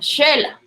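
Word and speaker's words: Xela: Y entonces el fonema suena como SH, pero lo correcto es con X, como Shela, Shelahu, ¿verdad?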